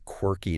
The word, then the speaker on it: quirky: Okay, so the phonetic breakdown here is really important. The Q U makes a Q sound. You really need to round your lips for this. Key W U going to whistle almost. Yes. Key W E Key And the stress is heavy on that first syllable.